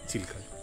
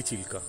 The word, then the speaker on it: Chilika: কত পাখি বসে আছে চিল্কায়। দূরে এবার পাহাড়টাকে দেখা যাচ্ছে, দেখুন স্পষ্ট করে। এই সেই চিল্কা। আসল উচ্চারণ কিন্তু ঠিক চিল্কা নয়, চিলিকা।